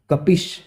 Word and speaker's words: कपिश: कपिश, यानी कि इसका उच्चारण होगा छोटी ई की मात्रा है।